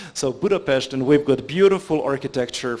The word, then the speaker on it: Budapest: We are a NATO member, and the capital of Hungary is Budapest, as we correctly pronounce it, and not Budapest. So Budapest, and we've got beautiful